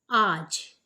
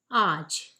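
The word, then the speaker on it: आज: this video let's start the word for this video is Arch which means today again the pronunciation is Aaj and let's look at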